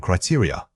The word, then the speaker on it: criteria: Say it again, criteria. Many speakers struggle with the final unstressed vowels. Remember that this word has an important stress pattern starting on the second syllable.